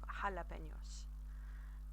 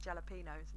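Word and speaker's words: jalapeños: pick a quite tricky quite a tricky word there because it's got the NEA that we've literally just touched on as well so that jalapenos and up in yours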